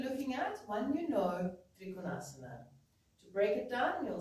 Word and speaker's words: Trikonasana: So to give an example, south of India, we could say Trikonasana, with the accent on the tri. And north of India would be more with the accent starting on the second syllable, which is Trikonasana.